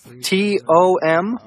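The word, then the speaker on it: Thom: you was it Tom T om it's Tom but I spell it with an H th om - hi I'm Lea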